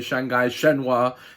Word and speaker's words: Shanghai Shenhua: You know, his club in China, Shanghai Shenhua, that's how you pronounce it.